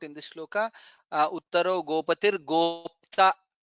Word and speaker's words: गोप्ता: Let us to note in this shloka, Uttaro Gopatir Gopta, Pakara and ta, half pa and ta, both the letters are there. We have to pronounce both. Gopatir Gopta.